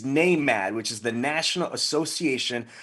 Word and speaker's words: NAMAD: can say it correctly because he's not i'm mad he's name mad which is the national